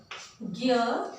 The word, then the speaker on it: ज्ञ: ज्ञ का उच्चारण हम ऐसे करते हैं जिससे सुनने से लगता है मानो यह ग और य इसका रूप हो, लेकिन नहीं बच्चों, ये गलत है।